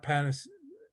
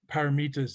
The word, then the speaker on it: paramitas: Those are 6 paramitas. Not panis.